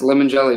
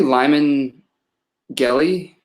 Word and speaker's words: Limongelli: like, I probably should have told him, yes, Limongelli. Most people just butcher the heck out of it. So what's the worst that someone has butchered it? Probably Limongelli.